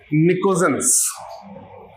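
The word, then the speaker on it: Pnictogen: कहते हैं क्या इसको निकोजन प भी साइलेंट टी भी साइलेंट है पन नहीं पढ़ना क्या निकोजन क्या बोलते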